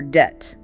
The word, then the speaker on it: debt: Or debt. D E B T. Silent B.